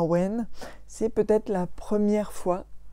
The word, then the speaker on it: Awen: saha j'ai eu le n mais ça se prononce à wayne c'est peut-être la première fois qu'on a une